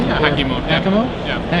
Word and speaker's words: Hakimo: Yeah, Hakimo. Hakimo? Yeah. Hakimo. Yeah. It's equal stress on both syllables, but yeah.